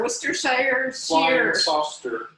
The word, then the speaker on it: Worcestershire: and then next ingredient sam is pronounced uh washer for sure where's shawsheer worcestershire two teaspoons of this